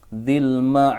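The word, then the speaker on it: ذي المعارج: Maka cara bacanya di sini dzil ma'arij.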